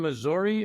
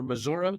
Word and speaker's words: Missouri: You're I believe from Missouri originally or Missouri depending how you pronounce it. It you know it it depends on where I am in if I'm in Colombia the college town it's Missouri. If I'm in McBain, Missouri,